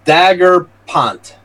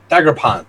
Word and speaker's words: Daigrepont: Donation pronounced Daggerpont. Daggerpont. It's from Louisiana. Dagger Point. there you Daggerpont. go. So Alexa, pronounce DAIGREPONT. I pronounce that Dagrapont, but text is Dagrapont?